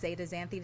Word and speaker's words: zeaxanthin: Zeaxanthin? Is that how you say it? Zeaxanthin is how it's pronounced.